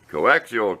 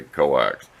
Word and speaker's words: coaxial: put better coax cable coaxial cable pronounce it correctly don't say coax anyway I can get